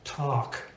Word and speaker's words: talk: A very common word, for example, talk. Talk. Now you know that has an L in there, but nobody says talk.